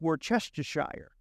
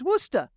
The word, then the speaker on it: Worcester: coming from anywhere else you say it's Worcestershire that's basically how it's spelled just to share but you know what they say it's Worcester Worcester welcome to Worcester welcome and as we